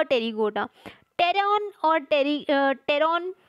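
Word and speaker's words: pteron: टेरॉन और टेरॉन जो है, टेरिगोटा जो नेम है, तो इसमें मैंने टेरॉन, पी is silent here.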